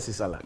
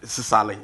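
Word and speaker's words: Sisaala: Is your language called Sisala? Sisali. We speak Sisali.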